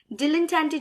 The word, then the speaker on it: dilettante: Dilettante जो word है इसकी दो pronunciation है, British और American. It can be dilettante or it can be dilettante.